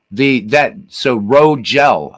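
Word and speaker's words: Rogell: So Rogel. Okay, soft G.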